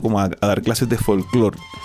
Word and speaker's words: folclore: Exacto, como que folclore. Y además que bueno, hay un apunte, tengo cierta fascinación con las palabras que son agudas. Sí, es que tiene el acento ahí en la última sílaba.